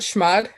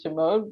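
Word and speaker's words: chmod: 600 private key okay i've been saying that wrong for my entire life wait how do you say it maybe i'm saying it wrong i call it schmuck i like that i like that a lot actually um i i mostly heard it saying shimode but i like shimod better i think um okay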